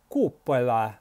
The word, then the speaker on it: cupola: I think the Italians say cupola, like that. You could try pronouncing the word cupola, cupola.